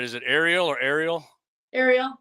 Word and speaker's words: Arial: Ariel, like Little Mermaid.